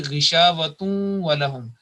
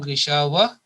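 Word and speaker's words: غشاوة ولهم: We can't say gishavatun walahum because this tanween at the end, that demands an assimilation with nasal sound. For 2 seconds we have to make that idgham or joining with nasal sound. So it will be ghishavatun walahum.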